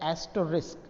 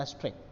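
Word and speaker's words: asterisk: जो स्टार है उसका इंग्लिश प्रोनाउंसिएशन होता है एस्टरिस्क, ठीक है। मुझे ये अभी अभी पता चला है, आपके नॉलेज में भी ना हो तो नोट कर लीजिएगा, ठीक है। हैज़ का तो पता होता है कि हैशस्ट्रिंग बोलते हैं, इसका पता नहीं, तो इसको कहते हैं एस्ट्रिक।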